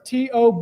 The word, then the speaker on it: Tobe: And then next is going to be Sheriff Tobe Lesenby. He's the Carroll County Sheriff. It's Tobe, and it's pronounced Tobe.